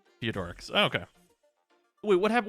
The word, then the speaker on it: Theodorix: It's pronounced Theodorix.